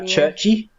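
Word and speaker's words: Cherche: and s the apostrophe churchy she's very churchy churchy I say sh cuz it's like French and I'm used to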